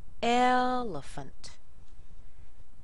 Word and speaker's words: elephant: ones here we have elephant elant notice how the second e and the a in there are just little they're tiny these are weak syllables elephant calendar calendar even